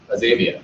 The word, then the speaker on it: Azaveza: Like Tangi with United by Blue, and Robert Teetham with Azaveza. Did I pronounce it right? Azavia.